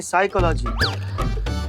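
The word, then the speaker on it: psychology: पिसाई का लागी तो साइकोलॉजी नहीं साइकोलॉजी पी साइलेंट होता है तुम हो जा साइलेंट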